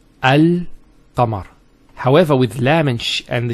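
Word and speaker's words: القمر: However, with Al-Qamar, there's no issues with that. And that's because the articulation point of the lam and the qaf are far apart.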